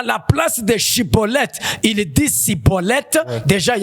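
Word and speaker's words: Shibboleth: Il fallait que cet homme prononce Shiboleth.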